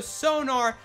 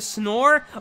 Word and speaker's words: sonar: two explosive explosive Warheads torpedo sonar I was mispronouncing that the whole time I was calling it a snore a a torpedo snore oh my goodness I'm